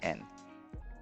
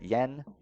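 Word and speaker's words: 円: but there you go it's n yen we'd say yen they say so you're at the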